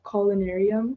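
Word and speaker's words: collunarium: So, another example I'd use for this, um, one word that I used to have trouble with, it's pronounced culinarium.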